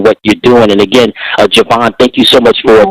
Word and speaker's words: Gavanne: thank you so much yeah my name is Javon so it's spelled g a v as in Victor a